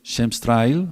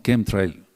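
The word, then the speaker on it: chemtrail: Entonces, muchos no le dicen shems tril o trail, sino kem trail.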